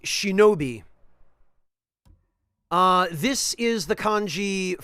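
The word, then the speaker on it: 忍: charm is the Ki for ninja and it's pronounced Shinobi uh this is the kanji for protection it's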